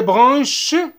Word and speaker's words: branche: Des branches. Branche. Branche. S. ما نقروهاش. B. A-N. A-N. A-N se prononce en. ننطقوها en. Bran. Bran. C-H. C-H se prononce ch. Branche.